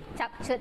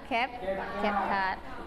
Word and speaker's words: CapCut: Bacanya CapCut atau CapCut? Oke, kalau biasanya orang-orang bilang CapCut ya, tapi yang benarnya adalah CapCut.